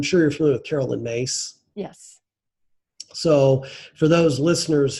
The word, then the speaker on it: Myss: So along those lines, I'm sure you're familiar with Carolyn Mace. Yes. So for those listeners who've never heard of her, her last name is spelled MYSS, and Carolyn is a